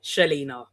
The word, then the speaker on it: Chelena: Like Helina, but with a C. Shellina because I get all kinds of pronunciations.